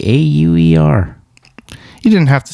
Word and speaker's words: Auer: Abe Auer, A B E A U E R. You didn't have to spell it out, but that's okay. might be thinking like Auer like H O U R.